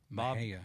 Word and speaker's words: Mexia: Yeah, Mahia. Bob Wright. How do you spell that?